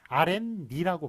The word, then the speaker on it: 아랫니: 그래서 앞에서 배운 것 아랫니가 좀 또 나왔는데 아래 플러스 니인데 그래서 아랫니라고 발음하면 되는데 원래 그 발음을 어떻게 합니까? 아랫니라고 발음하잖아요. 아랫니 이런 식으로 아래네 레네 니은이 덧붙습니다.